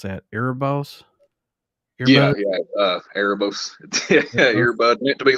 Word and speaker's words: Erebos: How do you pronounce that? Erebos? Yeah, Erebos.